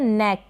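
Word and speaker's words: knack: फिर ये है नेक, क्या है नेक, एन से पहले के है, के साइलेंट है, नेक बन गया, ए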